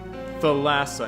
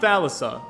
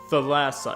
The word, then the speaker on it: Thalassa: that's probably offensive the lasso is a greek name oh look at me being uncultured as hell spelt with theta so the th sound so it's the lasso not thalassa the lasso am i saying it